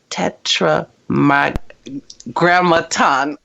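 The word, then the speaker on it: Tetragrammaton: you even talk about the power of the Tetra M Graton did I say it right yes I said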